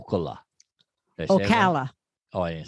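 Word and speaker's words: Ocala: where there was other Olympic speed skaters o Okala oala oh I didn't say it righta OCA yeah yeah Okala Florida I used to live I used to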